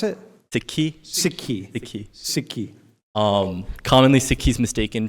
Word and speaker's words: Sikhi: Wait, how do you pronounce it? Sikhi.